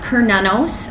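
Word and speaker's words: Cernunnos: as well as her twin flame so it's pronounced per nanos I'm also known as her knee he's also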